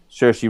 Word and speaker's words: Saoirse: Saoirse Ronan, where she's like the secret eight, always trained, and she's one.